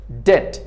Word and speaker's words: debt: Debt بیدهیجه چی است؟ سایلنت است.